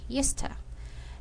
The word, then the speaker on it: used to: york in this example we can now pronounce the word used to using the word eusta did you used to